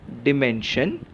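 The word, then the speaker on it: dimension: main और last हिस्सा एस आई ओ एन श इसका उच्चार होता है डिमेंस लेकिन कई लोग इसका उच्चार डायमेंशन ऐसा भी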